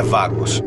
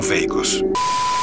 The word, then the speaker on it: Vagos: A pronúncia é Vagos e não Veicos.